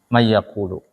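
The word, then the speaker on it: من يقول: Man yaqulu asalnya kan? Jadinya may yaqulu.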